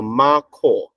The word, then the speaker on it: macaw: All right, a macaw. So the KHOR is pronounced as caw.